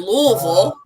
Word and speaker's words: Louisville: because so I'm from Alexi in Kentucky and Louisville which is the the correct pronunciation L I've always heard um we don't